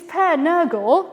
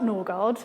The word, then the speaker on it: Per Nørgård: So this is Per Nørgård, not Nørgård.